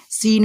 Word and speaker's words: scene: सीन आप बोलते हो, तो सीन में जो स्पेलिंग जो होती है ना वो SCENE होती है। तो ये जो सीन आप SC जो देख रहे हैं वो क्या है, हमारा साइलेंट है।